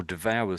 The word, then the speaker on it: devour: So there's a V sound v. But this hour, you could I can sort of hear a W sound in there.